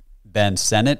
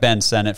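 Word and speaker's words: Sinnott: Texas I personally am a bigger fan of Ben Senate is that how you say his name yes I like Ben senet from Kansas State a lot better than jatavian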